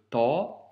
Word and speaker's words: ط: Donc, premièrement, aujourd'hui, on a vu la lettre Ta, donc se prononce avec emphase. Le son Ta doit donc remplir la bouche.